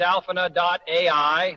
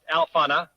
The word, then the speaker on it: Alphana: I urge everyone to use alpha.ai, that's pronounced Alphana, to automate their AI content workflow.